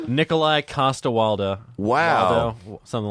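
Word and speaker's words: Nikolaj Coster-Waldau: Nikolai Costa-Waldau.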